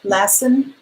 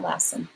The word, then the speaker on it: Lassen: far out ass okay lassen okay not lesson always telling to know